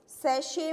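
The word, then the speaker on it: Sachse: तो बेटा आपके जो नेक्स्ट हम टॉपिक करते हैं आपके सिलेबस के अकॉर्डिंग, सेशे मोहर थ्योरी ऑफ रिंग। तो सभी हेडिंग डालो, सेशे मोहर थ्योरी ऑफ रिंग। मैं स्पेलिंग बता देती हूँ, सेशे की स्पेलिंग है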